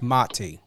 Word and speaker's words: Mati: before we went live it's very important to know how to pronunciate and and I get it you know sometimes you don't correct but it's mati yes yes um even